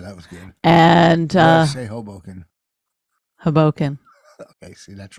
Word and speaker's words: Hoboken: day good for what saying Hoboken they said hobo can I go Hoboken they were like what I was like he was saying it wrong your whole life I'm gonna get it